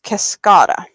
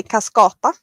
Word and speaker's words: Cascada: So the yarn I'm working with is Cascada. Cascada? In Swedish, I would say cascata, but that's the Swedish version or pronunciation, and I do not believe that you would say that.